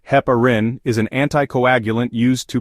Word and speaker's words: heparin: supplements due to the risk of hyperkalemia Hein pronounced Heparin is an anti-coagulant used to prevent blood clots